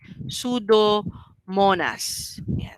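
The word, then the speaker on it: Pseudomonas: sudas Kaya siya ano Kasi silent p e sudo Monas so these are the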